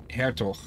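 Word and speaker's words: Hertog: English all right can I say that again hair talk h-e-r-t-o-g it's almost for dry hair okay originally dug in anyway what it's pronounced Avatar okay do you pronounce it that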